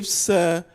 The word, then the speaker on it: IFZA: Could you explain what, how do you pronounce IFZA. it? IFZA Elite.